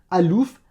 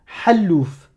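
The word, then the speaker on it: حلوف: Si tu me prononces que la voyelle, si tu me dis A comme Hajj, Alouf, Aram, Halal, Hakim, là c'est pas bon.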